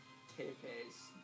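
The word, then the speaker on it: Țepeș: Trevor Belmont and Meadow's immortal father, Count Vlad Tepes Dracula.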